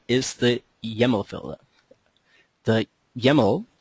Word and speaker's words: YAML: The YAML, at least that's what our users tell me, that's how it's pronounced, it rhymes with camel, is a new file format which has become more and more industry norm.